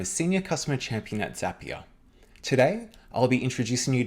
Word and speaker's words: Zapier: The easiest way to remember it is that Zapier rhymes with happier.